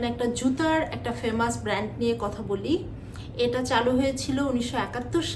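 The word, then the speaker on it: Nike: জুতার একটা famous brand নিয়ে কথা বলি এটা চালু হয়েছিল 1971 সালে সারা বিশ্বের খুব বিখ্যাত একটা ব্র্যান্ড এটা উচ্চারণ করতে হয় নাইকি নট নাইক এটা হবে নায়িকি এবার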